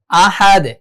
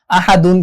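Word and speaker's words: أحد: কুল হু আল্লাহু আহাদ, আহাদ এভাবে হবে। কেন আহাদুন কেন বলবো না? এখানে আমরা ওয়াকফ করেছি তাই আমরা এখানে জজম ধরে পড়বো।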